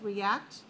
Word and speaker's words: react: It's re.act. That means it has 2 syllables, react. And the pronunciation, take a look at in the parentheses, react. Second syllable has a stress mark.